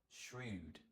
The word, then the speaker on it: shrewd: Pronunciation is quite tricky. Notice we have that sh sound at the beginning, and then a r. Sh r shrewd.